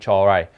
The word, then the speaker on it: Comhra: I think that's how it's pronounced. It's Comhra.